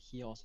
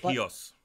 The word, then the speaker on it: Chios: also was great uh I was told by the Greeks that heos is how they pronounce it uh sileny uh what is it heos heos yeah uh was